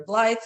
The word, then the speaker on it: Blythe: We talked about in Peter Ble. It it looks and rhymes with scythe. It sounds like blight.